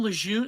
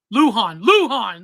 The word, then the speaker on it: Lujan: Is that her name, Lejeune? Is that how you say Lejeune? Lejeune? Lujan. That's how you say it.